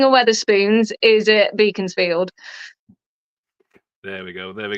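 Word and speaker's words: Beaconsfield: can't beat a uh depends how you pronounce it we call it beaconfield but I think it's beckon field absolute best service station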